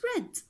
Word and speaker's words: read: to is read and verb 3 is red so the same spelling but the pronunciation is different I have read I